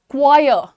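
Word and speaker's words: choir: अच्छा आप लोग ये क्वायर क्वायर आर ना लगाइए यहां पर। क्वायर।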